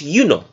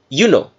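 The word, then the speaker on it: Iuno: we are saying juno the letter j for juno did not exist until about 400 or 500 years ago give or take so when they translated juno the original pronunciation of juno was you know all right you know with an i so they said you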